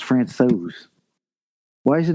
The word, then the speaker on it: Francouz: His name being pronounced Francouz.